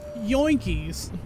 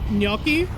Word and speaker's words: gnocchi: Some woman did a TikTok where she was showing a recipe she found for pan-fried chicken and yoinkies. Which is not how I would expect gnocchi to be pronounced.